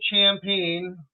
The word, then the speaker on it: Champagne: We've got Stephen Champagne. I think I pronounced your name right?